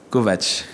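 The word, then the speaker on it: Kovács: Et ça devient justement, une espèce de blague dans le livre où ceux qui ne connaissent pas se trompent, l'appellent comme tu as dit Kovacs, alors qu'en réalité ça se prononce Kovacs.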